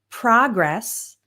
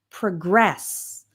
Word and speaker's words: progress: The same word can be a noun or a verb or an adjective and the difference is in the word stress.